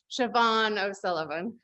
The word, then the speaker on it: Siobhan O'Sullivan: readers to, and I'm going to have you pronounce her name. Siobhan O'Sullivan.